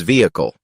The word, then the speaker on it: vehicle: another tricky one is vehicle many people pronounce the h but it's silent think of it as